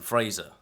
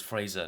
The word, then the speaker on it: Fraser: So, The Mummy, starring Brendan Fraser. It's Fraser, not Fraser. I found that out recently, actually. I always pronounced it Fraser, but you know.